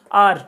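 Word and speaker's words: hour: जिसे आप लोग आवर बोलते हो उसका सही प्रोनाउंसिएशन है आर, ठीक है ना।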